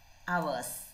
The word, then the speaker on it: hours: during study hours hours how can we read it ours h is silent h silent hours study hours cats